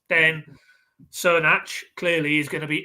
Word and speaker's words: Crnac: It's pronounced Crnac.